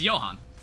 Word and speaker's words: Johan: Yeah, it is pronounced as a Y. Okay. So, it's Johan, which uh I have a friend named Johan.